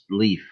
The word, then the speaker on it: Lif: L-I-F, but it's pronounced Leaf.